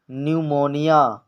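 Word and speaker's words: pneumonia: आप देख सकते हैं एन से पहले पी आया है तो पी साइलेंट होगा न्यूमोनिया इसी तरह साइकोलॉजी यहां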